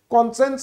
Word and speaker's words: conscience: विवेक जोटी बाधा दोची कॉन्सेंस रो स्पेलिंग होची CONSCIENCE साइंस लेखा होची बट एटी कॉन्सेंस बोली प्रोनाउंस हो आ कम्युनिटी तमे जानिचो